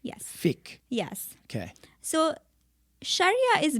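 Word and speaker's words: fiqh: do you fi q h q h yes Fick yes okay so Sharia is basically the divine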